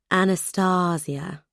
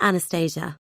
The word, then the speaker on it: Anastasia: John pronounced his wife's name with long R's and soft S's, emphasis on the middle syllable. Anastasia, never Anastasia. It still blew my mind